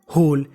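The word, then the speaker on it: whole: में सी wept wept होल डब्लू एच ओ एल ई होल यहां पे जो हमारा डब्लू है वह साइलेंट रहेगा होल का मतलब होता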